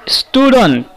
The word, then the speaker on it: student: A student. Here you might have some confusion. while pronouncing student, student. You might think its first sound is E, but not in actually. In actually, it is student, student.